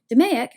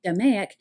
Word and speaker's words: DMAIC: DMAIC, and it's pronounced as if it were an actual word, DMAIC, is one of the useful bits of jargon.